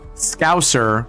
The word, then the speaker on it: Scouser: trying really fucking hard to pronounce Scouser with a really long S, Scouser. Because if I were to pronounce it just in my normal dialect, I'd call it Scouser, right?